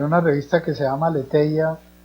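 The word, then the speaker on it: Aletheia: revista que se llama Aleteia, Aleteia se escribe con H después de la T, Aleteia, hay artículos sobre estos temas de participación infantil.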